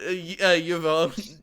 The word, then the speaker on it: Yvonne: Yvonne. Yvonne. Yeah, it's a French name.